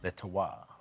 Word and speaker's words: Le Terroir: Le Terroir.